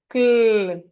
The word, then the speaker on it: climb: We have cl e climb cl i m climb cl i climb. The b here is silent.